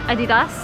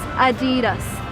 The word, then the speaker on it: adidas: and it's called adidas you probably called it adidas or something else but the correct way to pronounce it in american is adidas adidas a pair of adidas a car